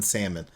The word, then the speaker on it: salmon: The mama comes in with that dress, and as soon as I saw her, I'm like, her mom looks like she pronounces the L in salmon.